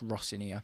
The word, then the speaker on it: Rosenior: Rossinia, by the way, I keep saying his name wrong. It's Rossinia. He specified that today in his press conference.